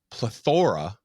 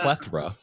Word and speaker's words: Plethora: And I only say that because we recently just interviewed a band named Plethora, and we were calling them Plethora. And I mean, that's easy. Like the spelling is all the same. It's just the emphasis on what T or the A.